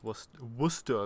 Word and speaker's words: Worcester: Yeah, it is actually, yeah, it's pronounced Worcester.